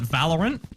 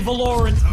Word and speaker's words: Valorant: We all call it Valorant, which is because of the emphasis on the A, you would think that it would be a double L, right? So technically the pronunciation for it is Valorant with no double letters coming in.